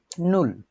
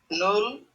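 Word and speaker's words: null: নুল কি বলে?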